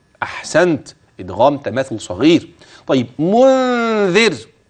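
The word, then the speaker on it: مُنذِر: متصل خلاص جميل جاءهم منذر ميم ساكنه اتى بعدها م متحركه ها يلا احسنت ادغام تماثل صغير طيب منذر نون ساكنه وبعدها ذال ستخفي ما شاء الله خدت بالك كلمه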